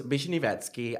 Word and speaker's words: Vishnivetskiy: So, yeah, my name is Bishinetski.